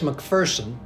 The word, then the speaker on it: McPherson: We say it's McPherson, and we jokingly refer to there's no fear in McPherson.